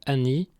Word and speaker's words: ani: Remarque importante, en Ventais, il ne faut pas confondre le pronom ani que nous venons de voir, prononcé avec un a bref non nasal, et hani avec un an nasal long, qui veut dire aucun ou personne.